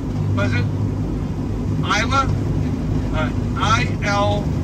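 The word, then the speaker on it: Islah: Isla? I-L... How do you spell it? I-L... I-S-L-A-H. Got it. Okay. Yes. No, that's how we pronounce it.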